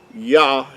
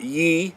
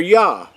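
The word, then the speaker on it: יה: They're not Ye, they're Yah.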